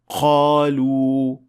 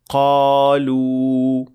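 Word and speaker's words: قالوا: And the mistakes sound like this. Qa, qa, qalu. This is also detected when you hear a hint of kha or ghain along with the sound of qaf. Qalu. While the tongue should be touching the soft palate to make it sound like a correct qaf, like this. Qa, qalu. The second mistake is when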